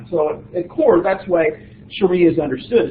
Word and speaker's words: sharia: is the following of sharia you'll hear it pronounced a variety of ways especially in the west Sharia seems to be the one that is probably more the one chosen by uh Muslims is referred to as